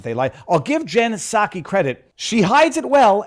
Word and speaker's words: Psaki: then I was told it's a silent P so I'll just I'll pronounce it properly because I'm not making fun of a name for the sake of it Jen Sak